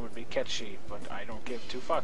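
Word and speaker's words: Cait Sith: going to fight you then later and yes kith is supposed to be pronounced K she but uh who gives does anybody pronounce it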